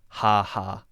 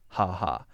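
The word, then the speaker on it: χαχα: The last one is Greek, and in Greece people write X-A, X-A, X-A, and I believe that is just pronounced ha-ha, ha-ha.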